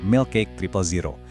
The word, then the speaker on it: Milkcake000: Dibacanya Milk Cake Triple Zero.